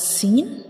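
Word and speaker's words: سين: teeth together to pronounce seen. When we pronounce seen, we will touch the up and down teeth together like seen, seen. We will touch the up and down teeth together to pronounce seen.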